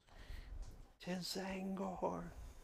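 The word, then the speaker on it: T'Zangor: 'Tis Zangor. The T is silent.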